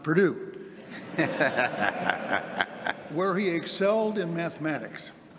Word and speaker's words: Purdue: But from there he was off to Purdue, which is pronounced Purdue, where he excelled in mathematics.